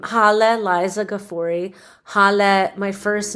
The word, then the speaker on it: Gafori: actually and um so so my last name gafori is uh correctly pronounced and it comes from one of these